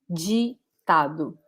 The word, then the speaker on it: ditado: put it here, as the sound G in English, as in the word jeans, okay? This is the sound we are looking for to pronounce the word ditado, okay?